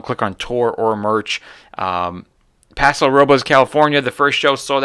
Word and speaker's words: Paso Robles: Paso Robles, California, the first show sold out.